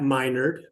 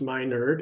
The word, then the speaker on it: Minard: my name is uh meinert pronounced my nerd because I'm a nerd and uh I'm just